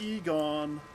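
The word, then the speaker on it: Igon: red bear then what's this Hon's armor it's pronounced Egon um reinforced iron rivets I wish to be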